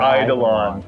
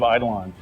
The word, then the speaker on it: Eidolon: How do you pronounce it? Plains of Eidolon. Yes. Plains of Eidolon.